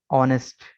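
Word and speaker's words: honest: इसके बाद ऑनेस्ट, H silent है, ONEST, ऑनेस्ट।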